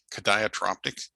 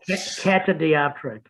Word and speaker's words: catadioptric: The most often known compound telescope is well, they're also called Cadiotroptic. I should have actually looked up how to pronounce that word before I got in here. Oh well. Catadioptric.